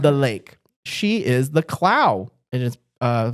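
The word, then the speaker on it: Clough: She is the Clow. It is uh spelled C L O U U G H but it's pronounced like C L O W clow.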